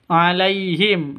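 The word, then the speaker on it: عليهم: Alaihim. Lai sifat lin lentur lemas tidak boleh disentak tidak diboleh dipanjangkan alaiim itu salah ya alaihim seperti itu bacanya alaihim alaihim min kulli bab mim mati alaihim Min mim mati bertemu dengan mim.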